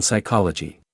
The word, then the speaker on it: psychology: Examples are the K in no, the B in doubt, the T in often, although this is becoming modified in certain dialects, and the P in psychology.